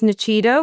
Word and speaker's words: Nuchido: So, my company is Nachido, which is spelled N U C H I D O.